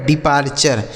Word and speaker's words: departure: आगे DEPARTURE, तो DE से हो जाएगा दोस्तों डी, PAR से हो गया पार, ठीक है, PAR से पार, और TURE का उच्चारण क्या हो गया चर, यह लिखा गया आपका डिपार्चर, इसे क्या पढ़ेंगे मेरे